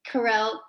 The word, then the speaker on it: Carol: having me and well i am carol that's how i pronounce it but you can say however you want all right like i came from mexico and i almost learned how to say my name in english so i'll take it carell carol whatever you want i say carol so i like i